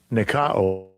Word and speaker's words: nikao: You see how you pronounce? Strong's G 3528. Nikao.